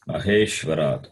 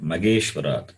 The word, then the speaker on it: महेश्वरात्: Here also it is Maheshwarat, not Mageshwarat, not Ge. Mahe, Maha, Mahalakshmi, Maheshwara, He. Okay, generally we have problem in pronouncing this Maha, Mahe. We replace it by the H by G. M-A-H-E-S is it. We say M-A-G-E-S, Mahe. It's not Mahe, Maheshwarat.